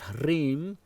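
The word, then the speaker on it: ह्रीं: Hreem, roll your R like Spanish, Hreem, that is the essential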